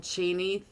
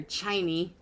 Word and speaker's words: Chiney: Let me go ahead and check in on Cheney. There we go. See what Cheney is doing, or Chiney. Guys, it's Chiney. I keep saying it wrong.